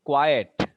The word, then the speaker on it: quiet: Now, if I say quiet, how many vowel sounds? See, 3 vowel sounds are there. But what we pronounce it? See, qua, et. Qua, again 1 and et 2. 2 syllables are there.